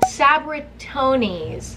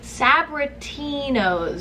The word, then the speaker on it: Sabritones: It's called Sabritones. Sabritinos. Sabritones. Sabritinos. I actually used to call them Sabritinos when I was little. Sabritinos. But it's spelled S-A-B-R-I-T-O-N-E-S, which, like, if you sound that out, Sabritinos.